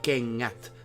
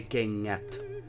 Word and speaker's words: kengät: They connect to each other, and you don't say kengät, you say kengät, and that is how it works. It's not like an put together. It's not like you have two ands. It is much more smooth. It's like kengät. You know, it's if you have kennät, it's different than kengät.